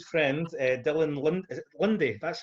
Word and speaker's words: Linde: Is it Linde? That's how you pronounce it, right?